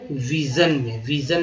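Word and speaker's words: vision: सन पढ़ा गया है, कई जगह जो है इसे जन भी पढ़ा, जैसे कि विजन में जन पढ़ा जाएगा। विजन का स्पेलिंग क्या होगा, VISON, ठीक है, तो यहाँ पर जो है इसे जन पढ़ा गया है, विजन।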